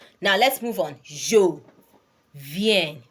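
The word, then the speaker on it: viens: from with do now let's move on Jo ven ven that's ven is spelled as v i e n s v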